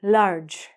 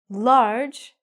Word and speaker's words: large: say lessons this word large large as I told you the e is silent it has one syllable so you're going to